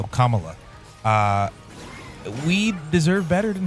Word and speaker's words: Kamala: uh Kamala okay yeah cuz I remember someone had a hat that was just comma and La um so commala uh we deserve better